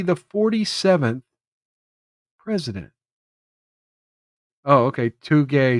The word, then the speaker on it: Takei: Too gay, too kai. Okay, that's what Sanglant was saying. He pronounces it too gay, too K.